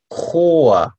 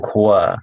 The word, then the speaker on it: Chor: 많은 사람이 이렇게 같이 노래 부르면, das ist der Chor. CH in der K 발음. Der Chor, der Chor 말고, der Chor입니다. Chor. Marie, 여성 이름. Marie singt im Chor.